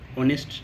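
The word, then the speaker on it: honest: তারপর ময়না ইজ দেখো এইচ এর উচ্চারণ এখানে সাইলেন্ট তাই এন হবে এইচ এর উচ্চারণ হচ্ছে না অনেস্ট শব্দটা তাহলে Mainak is অ্যান অনেস্ট বয় তারপর আই হ্যাভ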